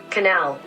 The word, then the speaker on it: canal: Canal. Now I know that CA can get really tricky. You could probably pronounce it canal, but in American English we pronounce this canal with the C-K sound.